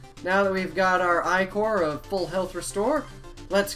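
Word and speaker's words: ichor: fill it with magical icer that's pronounced icor choose your i-core wisely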